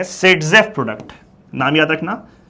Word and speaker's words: Saytzeff: आप लोग को, उसको हम लोग कहते हैं सेडजेफ प्रोडक्ट। नाम याद रखना, सेडजेफ प्रोडक्ट।